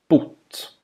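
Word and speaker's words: bott: This word has a short vowel, Bot.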